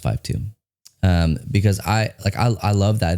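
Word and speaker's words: KJ-52: It's pronounced 5'2".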